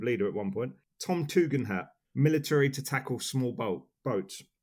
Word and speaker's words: Tugendhat: I've done him the service of saying it how I know it's supposed to be said, which is Tugendhat. But if I say it how it's spelt, it's funnier because it's Tugendhat.